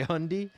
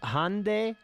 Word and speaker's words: Hyundai: car manufacturer hyundai hyundai okay you say hundy that sounds like some arkansas too i believe it it's hyundai hyundai okay hyundai so all of you